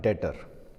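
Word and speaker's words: debtor: एक टर्म होता है डेटर अब डेटर क्या होता है इसमें लिखते समय हम लिखते हैं डेबिटर लेकिन बी साइलेंट होता है बोलने के टाइम पर ये बात यहां पर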